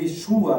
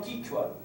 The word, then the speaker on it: Quechua: Tem Quechua entre os Quechua, eles falam Quichua. Quechua, não é Quechua. Não, Quechua. E nós, os hispânicos, falam Quechua.